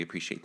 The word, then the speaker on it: appreciate: It has 4 syllables. Or syllables, if you will. Or syllables, yes. Make sure to emphasize the right part of the syllable.